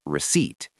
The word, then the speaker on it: receipt: Oh, receipt. The P is silent, right? Receipt. Exactly. No P sound, just receipt.